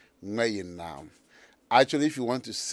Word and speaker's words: Gmayenaam: I wanted you to actually teach us how to pronounce it on air. Okay. What is it? It's Gmayenaam.